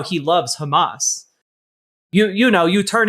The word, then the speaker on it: Hamas: about how he loves Hamas. you you know you turn it on and he looks directly into the camera and says I support Hamas except he pronounces it Hamass.